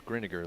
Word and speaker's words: Greninger: It's Greninger, like vinegar.